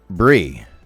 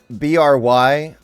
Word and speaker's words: Bri: They wrote BRY and then in parentheses wrote pronounced BRI, which I'm pretty sure BRI is normally pronounced Bree, which I think is why they specified that it's not Bry.